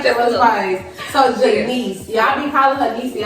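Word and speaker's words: G'Nece: It is Janice. Janice. And then I normally don't go out Quari.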